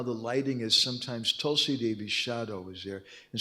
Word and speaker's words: Tulsi: Tulsi Devi árnyékára nem lenne jó rálépni. It's pronounced Tulsi, not Tulasi.